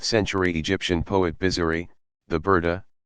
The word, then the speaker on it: Burda: A very popular part of the festivities is the recitation of a poem by the 13th century Egyptian poet Bizari, the Burda, pronounced Biyurda, mantle.